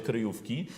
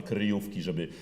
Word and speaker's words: kryjówki: bardzo ważne kryjówki, żeby ten wyraz wyciągnąć, a jednocześnie nie starać się śpiewać z obcym, na przykład czeskim akcentem w sensie akcentowania pierwszej sylaby, kryjówki, prawda?